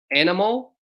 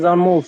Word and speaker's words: Anmol: It looks like Animal. Animal, are you there? Yes, sir. Yes. Hello. How do you say your name? Yes, my name is Anmol, sir.